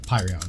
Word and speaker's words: Pyon: and tya am I am I pronouncing Pyon correctly is it Pion or Pyon Pyon okay cool cool cool yeah you know I think it's Pyon okay um they uh represented